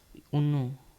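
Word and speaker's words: uno: कैसे करेंगे उ करेंगे य का उच्चारण उ करेंगे और इसको एक कहते हैं हिंदी में हम कहेंगे एक इटालियन में कहेंगे उनो यू एन उन्नो ठीक है दो को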